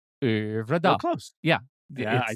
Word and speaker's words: Øvredal: Here's my, the how to pronounce this at Forvo says André Øvredal. Øvredal.